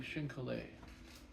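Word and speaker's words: chine collé: just think we go through shink how do you spell that again uh c h i n new word c o l l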